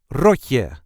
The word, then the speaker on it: rotje: This is the way we say roy ro. There is a light emphasis on the first syllable.